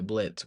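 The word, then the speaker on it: Blitzø: Which is kind of weird, because normally he wouldn't write that because he wants to go by Blitz, where the O is silent and everything.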